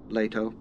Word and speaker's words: Leto: Javid it's Javeed Javeed some pronounce the name Leto this is how Frank Herbert pronounced e Leto more deep the word